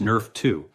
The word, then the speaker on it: NRF2: Your body has its own master anti-inflammatory switch controlled by a protein called NRF2, pronounced Nerf 2.